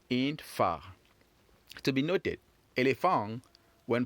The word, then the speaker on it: phare: Phare. Phare. Phare. Great. So when you're pronouncing this last word far, it's like you're saying far in English, F-A-R, far away.